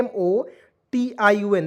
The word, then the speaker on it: motion: अब देखेंगे यहाँ पे MOTION, देखिए MO का उच्चारण हो जाएगा मो के रूप में, TION को पढ़ेंगे दोस्तों सन।